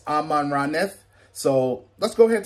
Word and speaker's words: Amaranth: of this before and it's pronounced as amman radneth so let's go ahead